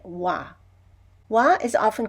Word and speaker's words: は: a hiragana ha but when it's used as a particle we pronounce it wah wah is often called